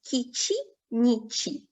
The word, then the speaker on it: Kici-nici: It's Kici-nici. So this is how it should be pronounced.